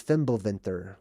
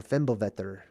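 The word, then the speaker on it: Fimbulvetr: a great winter it's known in norse mythology as fimbelvinter or fembovetter right there's different ways of pronouncing it but it's the great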